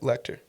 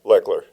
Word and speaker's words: Lechler: Lecter. Yep. What's up? Lechler. Yeah, Lechler. Yes. How Yes. did I pronounce it?